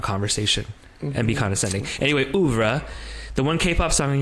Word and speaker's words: oeuvre: How do you say that? Oeuvre. I was wondering, Louvre. I think it's oeuvre.